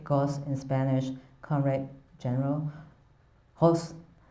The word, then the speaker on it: Golz: So the Spanish G and J sounds are pronounced as H.